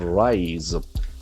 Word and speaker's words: rise: The pronunciation for the letter S is very prominent. It is Z.